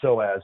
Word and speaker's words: psoas: spine there's psoas stretches we're saying so as but if our listeners are looking it up it begins with a silent P it's p s o a s the psoas muscle and